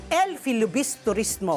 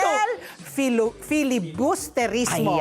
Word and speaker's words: El Filibusterismo: ng El Filibus Turismo. Oh, kasabi ko na nga ba. Again, take two. El Filibusterismo. Ayan. Ilang syllable? El Filibusterismo. O, pagbigyan niyo na po si Patty. Sabi kami na doon masyang tatlong syllables lang pag Tagalog. Okay, shortcut El Fili na lang. El Fili, correct.